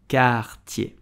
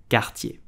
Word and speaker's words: Cartier: Cartier. Cartier. I hope you enjoyed this video about French pronunciation.